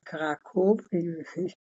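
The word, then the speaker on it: Kraków: was born in kov we say it like Polish people karakov kov Poland yes I've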